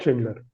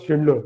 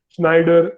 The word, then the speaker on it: Schindler: They don't call us Schindler. They call us Schneider. They call us Sachindler. So we recently ran a campaign on LinkedIn just to pronounce Schindler perfectly.